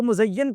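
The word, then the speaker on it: مزین: वो मुज़य्यन को मुज़ीन कह रहा है बाजार को मजीन करोगे।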